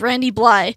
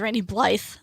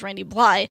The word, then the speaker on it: Randy Blythe: is his name is Randy Bly because it's spelt Bly th e but it's randy blythe he only pronounced the first three letters he is a vocalist